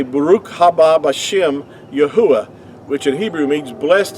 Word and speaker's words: Yahuah: they had these words letters had to be pronounced making vowel sounds yahuwah is the way that our creators name is